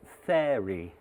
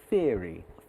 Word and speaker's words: theory: think he meant mentor, and also theory, which should have been theory. Theory to rhyme with ear, like my big ears.